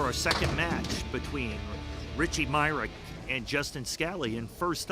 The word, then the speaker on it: Myrick: Justin will be taking on today Richie Myrick, not Mysick, Myrick.